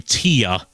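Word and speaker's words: Téa: do know that uh they pronounce her name Tia okay I've heard uh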